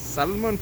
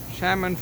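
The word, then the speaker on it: salmon: சல்மன் fish கிடையாது, உண்மையிலேயே ஷேமன் fish தான் சொல்லுவாங்க. ஷேமன் ஃபிஷ் அதான் கரெக்டான உச்சரிப்பு இதுக்கு.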